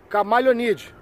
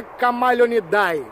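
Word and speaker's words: Chamaeleonidae: outro é da família camaleonide. Dica, tá? Não é iguanidae, não. Não é iguanidae, é iguanide. Assim, é meio iguanide, quase morrendo no final que se pronuncia. E não é camaleonidae, e sim camaleonide.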